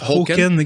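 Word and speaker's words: Håkan: Qui se prononce Hoken.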